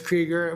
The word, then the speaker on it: Krieger: If not, I'm sorry I called you Kruger before. It's Krieger.